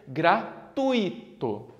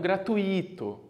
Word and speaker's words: gratuito: então essa palavra como não tem acento a pronúncia correta deveria ser gratuito e não gratuito entendeu gratuito joia ao mesmo é isso então